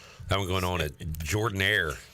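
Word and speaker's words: Jordan-Hare: one going on at Jordan Air how do you say it Jordan you don't say Jordan hair you say Jordan Air Jord Jord Jordan R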